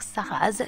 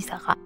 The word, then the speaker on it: Sarraz: avec un z et je sais que beaucoup de francophones serait un petit peu tentés de dire ça rase mais non dit sarah et d'aucuns château qui